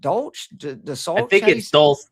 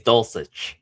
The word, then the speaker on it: Dulcich: But obviously Waller and Greg, was it, how do you say it? Dolch? I think it's Dulcich. Dulcich.